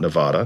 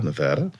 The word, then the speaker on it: Nevada: what happened in Nevada it's the first time I've ever said it right not Nevada Nevada but it's going to